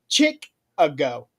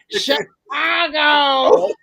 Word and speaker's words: Chicago: and she said Chick-a-go. And you can No. hear the producer behind the camera saying, Chicago!